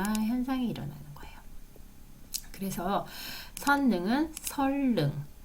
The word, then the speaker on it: 선릉: 리을로 바뀌는 유마 현상이 일어나는 거예요 그래서 선능 설릉 설 능 이렇게 발음이 되는 거예요 그러니까 유라고 하는 것은 니은을